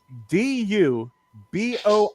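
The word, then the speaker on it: DuBois: D U B O I S. Right. How would you guys pronounce that?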